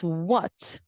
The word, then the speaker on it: what: it as wah no wh together makes the sound so it's what when where and why